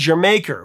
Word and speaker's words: D'yer Mak'er: The title is meant to be pronounced as Jamaica, which is saying Jamaica with a Cockney accent, is what they said.